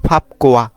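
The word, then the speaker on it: 밥과: আমি বুলটা পড়ছি তো এটার সঠিক উচ্চারণ হবে ফাপকুয়া কেননা বিয়োগ বাতমের পর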